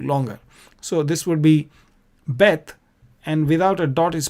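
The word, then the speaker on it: בּ: So this would be Bet, and without a dot is pronounced Vet.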